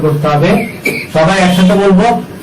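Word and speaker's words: باء: এরপর হরফটা নাম হলো বা, শক্ত হবে, শ্বাস বন্ধ থাকবে, মাকড়াস 15 অনুযায়ী হরফটাকে উচ্চারণ করতে হবে।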